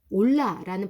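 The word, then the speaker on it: עולה: 이 번제는 올라라는 발음이 나는 히브리어로 연기가 올라가다라는 의미가 있어요.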